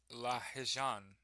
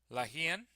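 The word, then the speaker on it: Lahijan: Demonstrations against the re region in Lahan. That is not how you pronounce that. Lahian fatally shot by the government.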